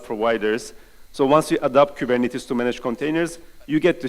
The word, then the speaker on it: Kubernetes: that's why we have Kuban it is Kuban it is it's a Greek word as you can see with the Greek characters that everyone mispronounces by the way the